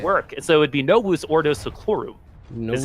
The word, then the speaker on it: Novus Ordo Seclorum: The V would be pronounced with the W. Is how that would work. So it would be Novus Ordo Seclorum.